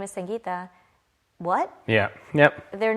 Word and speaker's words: Sangita: It's the sun, right? In the name, Sangita, not Sangita. But immediately if I say, hi, my name is Sangita, what?